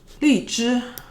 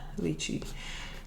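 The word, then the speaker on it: 荔枝: Li zhi. Li zhi is lychee. I think that's how Americans say it, lychee.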